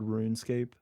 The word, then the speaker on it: RuneScape: of the game called runescape yeah no okay so wait run scape run it's spelled like run escape but it's runescape maybe i have maybe